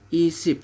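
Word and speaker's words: 이십: Jadi ini dibacanya adalah i-SIP.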